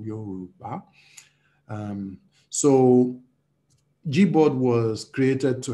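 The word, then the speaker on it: Yorùbá: trying to pronounce it would say Yoruba, which is not how it's pronounced. But the tone mark on the U is a low tone. The one on the A is a high tone, Yoruba.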